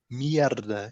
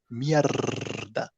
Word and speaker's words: mierda: You really pronounce the R like mierda in Spanish. They have an R that rolls, mierda. In Portuguese, you don't really need that. You just say merda, just me.